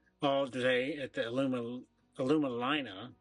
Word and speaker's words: Alumalina: day at the Aluma alumina it's called we so I apologize if I have mispronounced it before but it's like aluminum in Carolina so alumina um there are 270